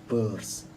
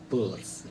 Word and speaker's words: Peirce: Meskipun tulisannya Peirce itu kan, kita bacanya Sanders Peirce, P-U-R-S-E, Peirce, seperti itu.